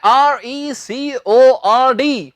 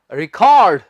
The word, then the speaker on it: record: इसके दो उच्चारण हैं, एक इसका उच्चारण है record और दूसरा इसका उच्चारण है रिकॉर्ड, जो कि हम अक्सर बोलते हैं। पर कहां record बोलना है और कहां बोलना है आपने रिकॉर्ड, ये हम सीखने जा रहे हैं हम।